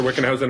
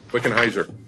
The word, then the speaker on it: Wickenheiser: This is a follow-up to a previous report that Lab Director Wickenhausen had actually reported to the Commission. And actually, I butchered your name. I apologize. Wickenheiser, like Budweiser. Rhymes with Budweiser.